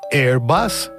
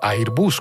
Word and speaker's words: Airbus: Y una de las más importantes que está ayudando a muchísimos países es Airbus, o Airbus, como lo quieras pronunciar.